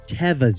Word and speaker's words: Teva: sandals you know those tiva's Nick is it called tivas could have a feeling that pronunciation isn't actually tivas it's Tevas yetis Teva like never have I ever so yetis you look